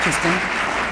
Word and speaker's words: Kristen: This is my middle name, Kristen. There's no R. Kristen.